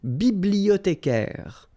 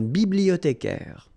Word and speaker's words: bibliothécaire: Then un bibliothécaire. Remember, in French, the H doesn't exist, so you don't pronounce it. Bibliothécaire. Un bibliothécaire.